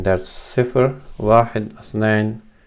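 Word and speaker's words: واحد: So this is called Sifr, and this is called Wahid. You can use W or you can use a V, that's up to you.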